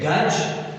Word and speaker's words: Guj: Moti Guj, or either you say Gaj, right? Now the actual pronunciation will be Guj, I guess.